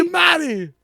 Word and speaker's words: Giamatti: Giamatti. It's too many syllables. It's Giamatti. Like Giamatti. Don't be Giamatti. It's Paul Giamaggio.